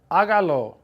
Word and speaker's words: hágalo: If I want to say do it, hágalo. Put the accent mark on the A right after the H.